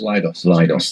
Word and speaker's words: LIDOS: You pronounce it LIDOS? LIDOS, there we are.